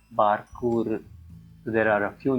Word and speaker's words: Bārkūrụ: script, Virāma sign indicates the special Tulu vowel ū, often called as the near silent vowel, and in many academic circles we write it with the letter U, the dot below it. So it's pronounced as Bārkūrụ.